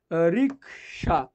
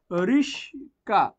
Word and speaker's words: রিকশা: আমরা আরেকটা এক্সাম্পল যদি বলি, আমরা যদি বলি রিকশা, কি বললাম, রিকশা, মনে করেন বানানটা ভুলই লিখছি, ঠিক আছে, রিকশা। কিন্তু রিকশাকে অনেক সময় বলে, অনেক অনেক অনেক রিকশা যে চালক সেই বলে রিস্কা, না এটা হবে না, রিস্কা, হ্যাঁ।